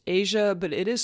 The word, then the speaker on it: Eja: to their son this poor child's name is pronounced Asia but it is spelled EJ a I could